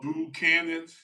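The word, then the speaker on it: Buchanan's: Oh, boo cannons. So boo cannons. Like kind of like not boo, but boo cannons.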